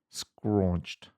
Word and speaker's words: scraunched: Like if you were doing it in charades, you wouldn't go 2 syllables.